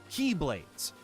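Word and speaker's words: χ-Blade: Hearts series often uses the Greek letter chi, which the games pronounce indistinguishably with the English word key. In my last video, I referred to something called the Keyblade as the X-Blade to differentiate it from the series' many similarly sounding but differently spelled Keyblades. This made a lot of purists very mad, so this time around I'm going to pronounce it as Keyblade.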